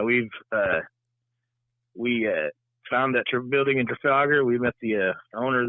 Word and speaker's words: Trafalgar: Is that how you pronounce it? Yeah, Trafalgar.